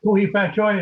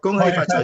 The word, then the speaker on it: Gong Hei Fat Choi: Ko Hei Fat Choi, is that right? Ko Hei Fat Gong Choi. Hei Fat Choi. Gong Hei Fat Choi to you as well.